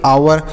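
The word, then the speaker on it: hour: आप सभी जानते होंगे एच ओ यू आर तो एच के साथ ओ है तो ओ का उच्चारण नहीं होगा तो इसे क्या पढ़ेंगे इसे पढ़ेंगे आवर ओ से आ पढ़ेंगे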